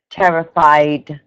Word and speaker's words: terrified: you make sure that you just pronounce the d on the end of terrified terrified uh I terrified of height okay so you say I am terrified of heights okay I am terrified